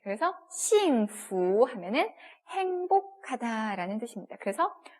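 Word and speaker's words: 幸福: 퓨라고 읽으시면 안 돼요. 부. 네. 그래서 싱후 하면은 행복하다라는 뜻입니다.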